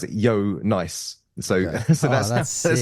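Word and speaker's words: Jo Nijs: as you read his name it looks like Joe niders Joe as we would spell it and then n i JS um that's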